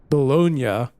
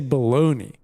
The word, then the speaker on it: Bologna: Bel uh hang on Bonia I always want to say baloney cuz cuz like growing up isn't it spelled the same way I'm I'm guessing that